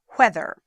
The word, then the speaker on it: whether: Or, if you're going to be more correct in your pronunciation, weather versus whether. However, almost nobody says it whether, everyone says it weather now, so it's just confusing.